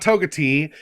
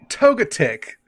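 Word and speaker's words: Togetic: called none none well it's not togati uh but J was actually really close it is togga Tick what y to to to I would pronounce that totic yeah a lot of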